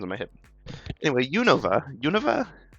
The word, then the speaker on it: Unova: is I feel like the duration I'm spending on the middle syllable is either too long or Too Short each time I say it can't seem to get it right to Unova Unova you know that